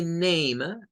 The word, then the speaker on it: name: no hay mucha complicación, y name, que pertenece al grupo de palabras que terminan en letra E. La letra E al final no suena en el inglés, y el sonido para la A corresponde a un sonido largo.